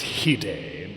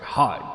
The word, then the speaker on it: hide: And that is probably why her second favorite musician is, she tells me this is pronounced Hide, but strange. It looks like Hyde to me, but I will admit I'm not too familiar with Japanese pronunciation.